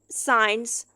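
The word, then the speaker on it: science: से पहले एस लिखा हुआ ए रहा है साइंस से पहले साइलेंट हो जाता है है इसके बाद है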